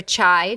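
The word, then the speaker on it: chay: Um, one kind of tip for people is you can look for chai dishes. It's spelled chi C ch H A Y which means vegetarian or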